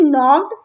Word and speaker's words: knocked: के यहाँ पे साइलेंट है, ठीक है, के नहीं बोलेंगे, के साइलेंट है। NOCKED, नॉक्ड मतलब होता है खटखटाना, ठीक है, लिखते क्या है? KNOCKED, नॉक्ड, लेकिन बोलते नॉक्ड है, और इस के को क्या है? साइलेंट है, ठीक है, ये आप ध्यान रखना है।